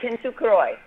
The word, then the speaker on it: Kintsukuroi: Tell me how you pronounce the name of your chapter. Yeah, Kintsukuroi.